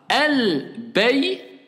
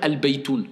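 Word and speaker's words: البيتُ: Al-baytou, la maison. Je ne peux pas dire al-baytoun, ça n'existe pas en langue arabe.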